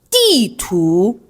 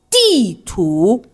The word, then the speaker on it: 地图: The word would be 地图, all right? 地图, 地图, okay? 地图.